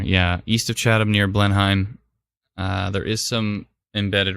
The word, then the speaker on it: Blenheim: oh my oh someone told me how to pronounce it I messed it up I'll Blenheim that's what it is Blenheim that's right Blenheim it's pronounced as Robin thank you very much